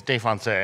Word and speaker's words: Défoncé: Yeah, it's Défoncé.